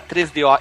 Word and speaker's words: 3DO: pessoas pronunciam errado e o cara fala 3DO e não tem acento no O na versão brasileira. Então é 3DO.